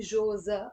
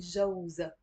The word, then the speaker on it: جوزة: So you see, on its own, I'm not really saying Jauz. I'm saying more Jose. Of course, Jauz is 100% correct too, and maybe it depends on the pronunciation in different areas. So Jose means husband, but when I'm saying her husband, I'm not saying Joza. I'm saying Jauza. Jauza.